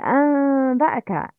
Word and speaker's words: أنبأك: In this example, نون ساكنة must be converted into concealed ميم. It's أنبأك. أنبأك. Not أم. أم. Not clear ميم. It's concealed.